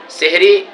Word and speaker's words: সাহরি: হয় এজন্য আমরা সকলেই সেহরি শব্দ বলবো না আমরা সবাই সাহারি বলবো ফেসবুকে দেখা যায় অনেক বন্ধুরা আপনারা সেহরি উচ্চারণ করেন বা লেখেন এখানে সেহরি হবে না সাহারি হবে এজন্য আমরা সবাই ভোর